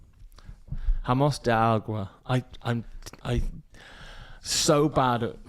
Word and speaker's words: Jameos del Agua: Isn't J a Y sound in Spanish? I thought it was Jameos. I don't know. Doesn't matter. Jameos del Agua.